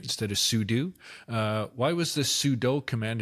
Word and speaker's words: sudo: Why was this sudo, right, instead of sudo? Why was this sudo command invented? We already had run as, no? Actually, no, it's sudo. It is sudo? Oh, right, yeah, do. Super user yeah, do.